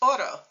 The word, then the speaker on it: oro: Spanish single R so the word for gold is Oro so listen to Otto in English and Otto in Spanish it's really the same thing Oro Otto that's the Spanish single r in English when